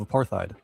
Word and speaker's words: apartheid: It's apartheid. Oh. I've never heard it pronounced with the H. That's all. Sorry. Apartheid. Yeah, I've never heard it said that way.